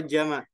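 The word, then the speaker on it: جمع: dua yang terakhir adalah jamak jamun tulisannya jamun bacanya jamak tapi tulisannya jamun jamun yaitu itu adalah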